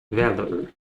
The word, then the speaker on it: valor: All right, next we have valor. Valor. Valor. And now we have Berlin or. So we have the lazy vowel, the schwa form, the lazy vowel form of or become er. So valor.